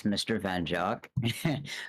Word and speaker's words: MrVenjok: you a little bit wow as a writer pronounced it's Mr van jock which a lot of people do have a